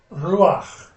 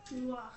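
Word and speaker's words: רוּחַ: Okay, they'll put this patah under the letter, even though it's pronounced before it.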